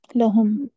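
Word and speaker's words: لهم: When it comes with the bamir, it pronounces la. Kasrah, ya? No, it takes fatha. Lahum. Lahu, lahum. Yep. Mm-mm. Takes fathah instead of kasrah.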